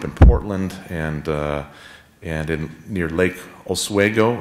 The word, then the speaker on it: Oswego: She certainly considers herself a Westerner, herself, having grown up in Portland and near Lake Oswego. Is that how you say it? Oswego. Oswego in Oregon, nearby the Latter-day Saint Portland Temple there.